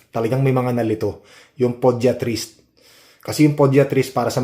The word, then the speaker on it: podiatrist: Kasi kahapon nag-vlog tayo yung podiatrist eh yung pronunciation ko mali pediatrist.